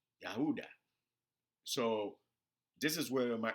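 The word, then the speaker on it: Ouidah: slave atlantic which is yahudah okay but i don't know if i'm pronouncing that right but yeah i think it's uh let me spell it it's o u i d a h yahooda so this is where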